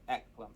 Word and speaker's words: Eklem: I keep pronouncing this EKLEM, but It would be EKLEM because the K is before the L. Ek. yeah, I know. Yeah. It'd be EKLEM. EKLEM the second. Alright. So as heir of EKLEM, you'll get to start with an additional 50 coppers.